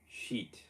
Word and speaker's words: sheet: eat 먹다 할 때 eat 앞에 sh 붙이면 돼요. sheet 그렇게 발음하시면 돼요.